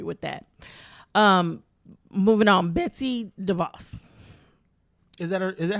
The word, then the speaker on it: DeVos: Moving on, Betsy DeVos. Is that how you pronounce it? Yes, DeVos.